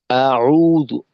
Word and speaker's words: أعوذ: আচ্ছা, এখানে উম, এই আউযু, আইনের চাপটাকে আরেকটু বাড়ানো হলকের মধ্যখান থেকে। আর জালের উচ্চারণ কিন্তু মাখরাজে রইলো না, জু হয়ে গেল এইটা। জু, জিহ্বার আগা সামনের উপরের দুই দাঁতের আগার সঙ্গে লাগবে।